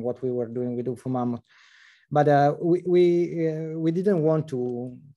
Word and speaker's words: Ufomammut: Pronounce it for me. Ufomammut.